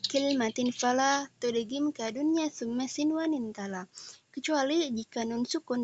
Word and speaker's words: sinwan: Untuk dua kata ini kecuali dunya dan sinwan dia maka bacanya tidak didengungkan, maka jangan didengungkan tetapi bacalah dunya dan sinwan.